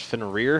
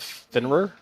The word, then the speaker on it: Fenrir: And also, I would like to say it is pronounced Fenrir, not Fenrir, but that's just a small little Norse mythology critique of you. So I'm pretty sure I've heard Thor call it Fenrir before, so I'm not gonna get into that